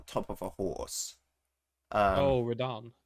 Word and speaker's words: Radahn: Oh, Radahn. Yeah, that Radan. That's how you pronounce it.